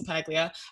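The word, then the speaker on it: LaPaglia: It, like everyone says LaPiglia. I'm like, it's actually pretty easy. It's LaPiglia.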